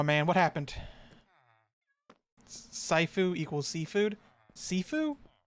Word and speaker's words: Sifu: what's wrong my man what happened equals seafood sifu like food or seafood is that like that's how you pronounce it all right seafood my hat i'm stupid so it's pronounced sifu okay well what happened i know it's a